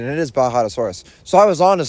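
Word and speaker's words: Bajadasaurus: supposed to be pronounced, Bajadosaurus. Um, see, I had a little epiphany this morning, I guess you could say, and I was thinking of, you know, like Baja Blast Mountain Dew.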